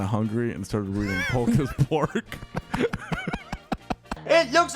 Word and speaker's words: Polk: I gave him Muck because I fully pronounced his name as Puck until I realized his name was Polk. Like hockey puck.